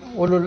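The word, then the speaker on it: أولو: In the Quran, quite a lot of time, ulul albab. Ulul albab. Ya ulil albab. O people of understanding. Ulul azm. So ulu, where the waw is not pronounced.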